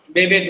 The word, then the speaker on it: Babbage: चलो ठीक है, कोई बात नहीं, स्पेलिंग आपकी मिस्टेक्स हैं, बट चार्ल्स बेबेज होता है, ठीक है।